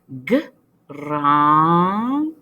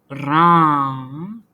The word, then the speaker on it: grand: Grand. Il y a aussi la lettre D, mais la lettre D est silencieuse. Chut, on ne le prononce pas. Grand. Plus vite. Grand.